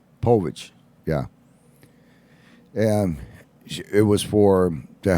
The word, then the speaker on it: Povich: Povich, yeah.